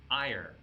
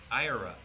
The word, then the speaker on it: ira: Is it ire?